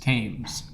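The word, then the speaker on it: Thames: I just want to know why there's an H if it's pronounced tames.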